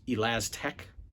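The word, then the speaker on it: Elastech: Elastec. That's the correct way to pronounce it.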